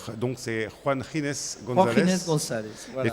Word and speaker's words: Ginés: En fait, Ginès est un prénom espagnol qu'on prononce Ginés comme Juan en fait. Comme Juan, exactement. Et donc c'est Juan Ginés González.